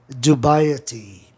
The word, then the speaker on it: dubiety: E dubiety, proparoxítona terminado em consoante Y. Terceira sílaba de trás para frente é o I, do ditongo IE.